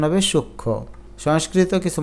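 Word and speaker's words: সূক্ষ্ম: না এটার উচ্চারণ শ্রীতি যুক্ত ব্যঞ্জন বর্ণের ম ফলা উচ্চারিত হয় না যেমন সূক্ষ এখানে খিয়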